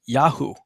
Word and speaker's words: Yahu: See, the part, his name, actually Jeremiah or Yirmiyahu, means Yahuwah has uplifted, but it's pronounced Yahu, that portion of God's name that's incorporated into Jeremiah's name, Yirmiyahu.